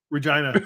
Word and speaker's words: Regina: And anyone we're saying Regina Regina the city that rhymes with fun.